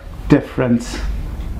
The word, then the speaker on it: difference: And if I talk about the correct pronunciation of difference, E, you don't pronounce this E, it should be, what's the difference?